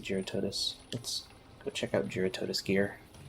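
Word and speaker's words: Jyuratodus: investigations okay let's go check out giaratodas or jarratidus i pronounce it gerototis go check out geratotus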